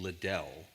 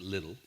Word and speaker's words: Liddell: named Eric little his we would pronounce his name Liddell but Scots in Scotland they pronounce it little so Eric little was uh an an